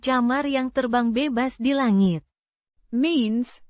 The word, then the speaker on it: langit: Langit. With the Lang. as in, language, and a short, it, sound.